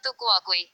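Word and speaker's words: tu quoque: Pronunciado Fukuoka.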